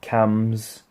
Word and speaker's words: CAMHS: said I should be referred to cams CAMHS the H is silent for some reason yes I'd see them